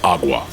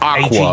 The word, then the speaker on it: agua: so like water in Spanish is agua not not Aqua it's agua yeah there's a g in there remember the first time